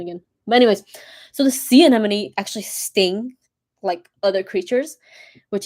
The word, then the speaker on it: sea anemone: So example would be clownfish and sea anemone.